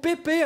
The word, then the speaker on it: Pepe: Par exemple, vous ne supportez pas qu'on appelle le défenseur portugais Pepe au lieu de Pep, qu'on dise Coupe Suisse au lieu de Coupe de Suisse, ou encore qu'on dise Eurofoot.